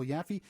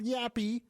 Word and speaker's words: Yaffe: an actual last name it's not yappy it's a lot of people think it is so I just wanted